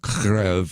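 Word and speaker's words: Kyiv: associated with Ukraine, because Kiev, Ukraine, is where we have our embassy. Now it's called Kryv, as how they want to be pronounced, but I'll just use the old pronunciation, if you will.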